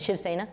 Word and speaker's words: Shiv Sena: That I can't remember that Shiv Sena. How do you say it? Shiv Sena.